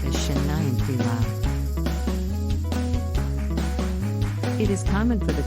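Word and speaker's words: 新年快乐: The Chinese expression for Happy New Year is Zinian Kyle, which is pronounced as Shen Nian Kui Lao.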